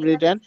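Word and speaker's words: written: good very good sir এটা রাইটেন হবে না রিটেন হবে এটা হবে রিটেন হবে শেষে ঠিক বলেছেন রিটেন এখানে রানটা কোন টেন্স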